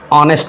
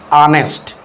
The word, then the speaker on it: honest: Example खाली स्थान ऑनेस्ट मैन।